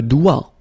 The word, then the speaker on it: doigt: Okay, so don't be frightened by this G because basically you don't pronounce it and then the final T you don't pronounce it. So the only thing you get to pronounce is this combination of three letters, here, D, O, I, okay? O, I, it's wa, and then D, doigt. That's the only thing.